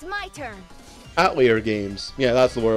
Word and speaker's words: Atelier: Like, I always called them Atelier, and I really like the way Atelier sounds. And then the pronunciation was Atelier.